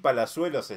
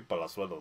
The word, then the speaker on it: Palazuelos: Palazuelo se llama la marca de ropa. Ajá. Que en realidad hay que pronunciarlo bien, que sería como Papi Palazuelo, güey. Papi Palazuelos, güey.